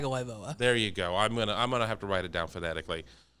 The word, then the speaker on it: Tagovailoa: National news, Tua Tagovailoa, I never can pronounce his last name. Tagovailoa.